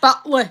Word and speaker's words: Batley: Batley. That's how you pronounce it. Batley.